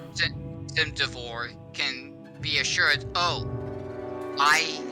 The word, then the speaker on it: Cimduvor: would be almost as if, how do you pronounce that guy's name? Cimduvor. Cimduvor can be assured, oh, I helped in defending Theron because I scared these guys off.